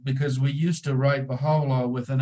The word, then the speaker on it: Bahá'u'lláh: we used to write baha'u'llah with an O that's how you pronounce it but in his system the U is pronounced as o so we continue saying